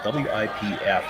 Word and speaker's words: Wipf: last name is spelled W-I-P-F, and I've had to look up pronunciations. I believe it's Wipf, but it sounds awfully close to Whiff, and I hate calling a skip Whiff.